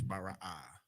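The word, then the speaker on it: ברא: None of those syllables or letters are connected. That's all it is, Bara'ah.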